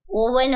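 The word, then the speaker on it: oven: मैंने तुम सबके लिए आवन में ये कुकीज बेक की है अरे छटी मालकिन वह आवन नहीं होता ओवन होता है ओवन आपने गलत प्रोनाउंस एशन किया है क्या यार साक्षी तेरी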